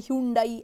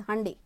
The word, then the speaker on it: Hyundai: have heard people say Hundai I have heard people say Hundai and I have few friends of mine who have visited Korea and they told me the actual pronunciation is Hyundai so I'm going to